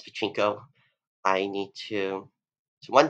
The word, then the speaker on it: Pachinko: So apparently I've been saying it wrong for the past few months. I've been pronouncing it Pachinko. It's Pachinko.